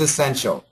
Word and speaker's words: essential: The perfect pronunciation is essential, but most Americans are going to have a schwa sound, very short. Is essential. Is essential. Okay. So we don't need to pronounce E there.